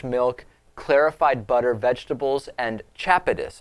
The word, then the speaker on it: chapatis: And his diet is made up of fresh milk, clarified butter, vegetables, and chapatis, I think is how it's pronounced. I don't think it's chapitis because that would sound almost like a disease.